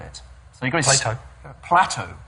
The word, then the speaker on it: Plateau: so he got PL Plateau Plateau no not plate not plate oh sorry not Plato we thought You' mispronounce